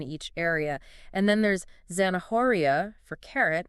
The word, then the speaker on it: zanahoria: area and then there's zanahoria for carrot where the H is silent right exactly it's those